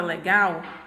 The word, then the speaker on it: legal: legal marido e máquina na palavra legal observa que a última sílaba é a sílaba gal ela é minha sílaba tônica por quê porque essa sílaba aqui eu pronuncio ela com mais intensidade a jama palavra marido